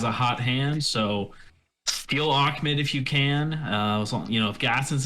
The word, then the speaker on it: Ahmed: Savine Ahmed, looks like Ahmed, pronounced Ahmed.